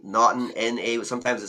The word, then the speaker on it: Naughton: because I can say Naughton, N-A, but sometimes it sounds like M-A. Yeah. So I say November, A-U-G-H-T. But you can also say it like the honeymoon, you say Naughton.